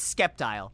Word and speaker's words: Sceptile: see there isn't there the C is silent then why do they put it there no it's it's sceptile sceptile cuz he's skeptic yeah he's a skeptic reptile sceptile how do you pronounce